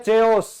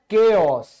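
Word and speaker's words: chaos: क्या बोलते हैं लोग कई बोलते हैं चेओस चेओस ठीक है लेकिन ये होता है केओस ये क्या होता है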